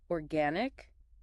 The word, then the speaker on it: organic: Um, next word is organic. Organic. So, the stress is on the second syllable.